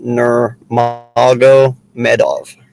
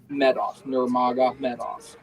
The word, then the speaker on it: Nurmagomedov: It's pronounced Nurmagomedov. Nurmagomedov. Try saying that fast 3 times.